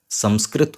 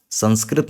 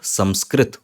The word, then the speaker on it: संस्कृत: का ध्वनि मा है तो हम इसकी जगह मा यूज करेंगे तो हम संस्कृत बोलते जरूर हैं लेकिन सही उच्चारण अब आपको समझ में आ रहा है कि इसका सही उच्चारण संस्कृत होता है संस्कृत नहीं होता हम